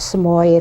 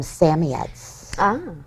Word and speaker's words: Samoyed: a samoyed at home only we call them samiats you have to pronounce it properly if you have one